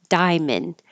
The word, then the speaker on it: diamond: We don't say the middle A as in diamond. Drop that A, make it shorter, and now you just have diamond.